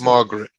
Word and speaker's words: Margaret: Now, most people, when they're not reading, do not say Margaret. They say No, Margaret, just right. two syllables, Margaret, right?